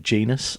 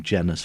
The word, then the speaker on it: Jenas: Forest and Newcastle uh box tobox midfielder Germaine genus um I managed to pronounce his surname wrong of course and called him jenus for most of the interview I think I